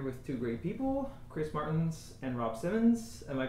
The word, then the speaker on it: Martens: and I'm here with two great people Chris Martins and Rob Simmons am I pronouncing your names right absolutely great and uh